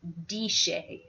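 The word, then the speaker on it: DSHEA: health and education Act deshay as we like to say as the acronym would be pronounced sounds very friendly well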